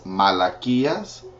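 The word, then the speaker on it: Malaquías: Hagi is hayel Zachariah is Zacharias Malachi is malachias and that's the books of the Old Testament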